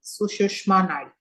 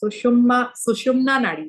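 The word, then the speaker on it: Sushumna Nadi: Chandra Nadi is the sushma Nar I'm very bad at pronouncing suum sushumna nari sorry sushumna Nar is a nari when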